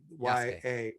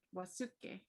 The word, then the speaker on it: Yasuke: No, Yasuke. Yeah. I'm sorry. Yasuke. What it looks like Wasuke. No, but you don't pronounce the U.